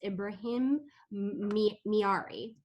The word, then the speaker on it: Ibrahim Miari: in great hands our moderator this evening is ibrahim miyari and ibrahim can you tell me if i'm